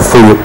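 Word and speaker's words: 冬: El carácter que va juntos es así, y eso significa en japonés, significa invierno, y se pronuncia como Fuyu, y por eso el nombre de la tienda.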